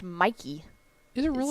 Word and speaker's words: Michie: It's Michie, right? Yeah, Corey James said, note from a former Army guy, West Point Stadium is pronounced Mikey, but looks nothing like that.